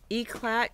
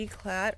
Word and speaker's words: Eclat: they call it bernstein eclat can be e-clat or e-claw germany calls it e-claw or ecklet i saw that today too they call it e-clat here so what it really boiled